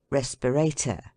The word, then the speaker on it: respirator: transatlantic delicacy decidedly unquestionable words ending in ato are are commonly accented on the last syllable but one let them be as long as they may as respirator regulator renovator indicator and